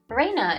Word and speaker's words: Reina: Reina is the correct way. Reina-san has told us that she wanted us to call her Reina.